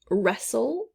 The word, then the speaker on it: wrestle: goes there silent gh next wrestle wrestle we don't hear the w glisten glisten it means